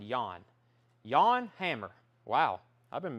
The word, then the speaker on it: Jan Hammer: inch single promo copy jan hammer is pronounced yawn hammer yan hammer who i don't know